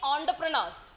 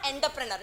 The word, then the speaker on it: entrepreneur: increase so many many entrepreneurs many many entrepreneurs it is not enterpreneur it is it is en but you pronounce as entrepreneur so many many entrepreneurs